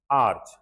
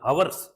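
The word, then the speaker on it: hours: बाद several आर्ज letter आर्ज देखो उच्चारण देखो आर्ज अब कई बोलते हैं अवर्स अपने दसी में तो इसको क्या बोलते हैं हर्स अवर्स नहीं भाई कई बोलते अवर्स आर्ज एच साइलेंट फिर वो आर्ज आर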